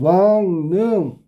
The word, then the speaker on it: 왕릉: 왕릉. 왕릉은 니은 발음으로 바뀌어.